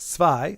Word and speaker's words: zwei: Sounds like zwei. Okay. Rhymes with I.